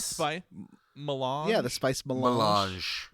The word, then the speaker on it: melange: How is that word pronounced? Melange? Spice. Not spice. Melange.